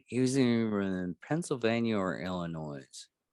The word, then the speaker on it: Illinois: you know it's pronounced illinois the s is silent clearly yeah how do